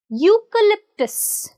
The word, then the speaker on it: eucalyptus: letter e is silent the letter e is silent so we start with you eucalyptus the name of the